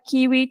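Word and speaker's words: Kewoi: correct I'll use some soft leader right so kiwi is my real name right but a lot of people find very difficult to pronounce my name so from all my avatar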